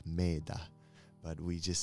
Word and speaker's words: Mettā: you don't know what meta means it's actually pronounced made but we just say meta and means loving kindness and benevolence goodness and